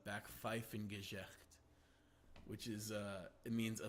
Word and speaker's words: Backpfeifengesicht: It's Backpfeifengesicht, which is, it means a face that needs to be slapped.